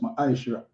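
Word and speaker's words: מעשר: to 10 means 10 in the hebrew and it's pronounced maisha 10 of every penny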